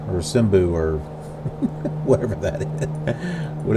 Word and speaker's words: Simbel: 230 miles away from Abu Simba, or Simbu, or whatever that is. What is it? Simbel. Like cymbals, like on a drum set, except it's not spelled the same way.